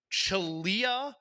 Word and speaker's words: Xelhua: Chelua, which is Xelhua.